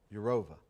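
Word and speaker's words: Jourová: Vera Jourova, is that how you pronounce that? Has been obviously one of the leaders in formulating the Privacy Shield. She'll be Jourova.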